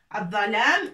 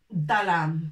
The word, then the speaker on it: الظلام: Si on veut prononcer par exemple le noir de la nuit ou l'obscurité, on va pas dire dalam. Dalam, non, c'est الظلام.